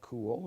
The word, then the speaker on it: Kull: And Cool is spelled, Kull. all right, very good. That's the best last name ever, isn't it? Yeah, it's worked well, except it's Cull wherever you go, so it's Yeah.